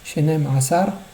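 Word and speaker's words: שנים עשר: Shenem Asar, il faut les prononcer ensemble et bien faire ressortir le Aïn de Asar. Pas dire Shenem Asar. C'est pas un Aleph, c'est un Aïn.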